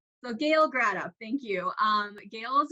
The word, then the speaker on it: Gratop: next um panelist um is uh Gail uh gretcha actually Gail I'm going to have you correct me am I pronouncing your last name correctly it's grad up and it happens all the time I don't